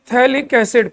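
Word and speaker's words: phthalic: आना इसको कहते हैं थैलिक्स पीएच साइलेंट होता है इसमें पीएच मत बोलना पैलिकल एसिड थैलिक्स है अब सुनलो जरा अब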